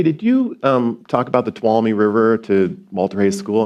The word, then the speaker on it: Tuolumne: their river teach them how to pronounce it Tuolumne Twila you teach them that